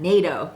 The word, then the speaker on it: 納豆: Some people would understand "natto" It probably gets mixed up with NATO That's pronounced NATO! It's not natto?